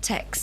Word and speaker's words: texts: Please learn how to pronounce the word text properly. It's just the word text with an S at the end.